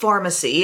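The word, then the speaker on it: Farmacy: And it's from Sephora, from a brand called Pharmacy, except it's spelled like farm, not with the PH, and it's called Honey Grail Ultra Hydrating Face Oil.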